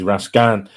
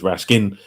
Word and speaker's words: Raskin: This is Belgium is Rascan, which is funny. England is Rascin.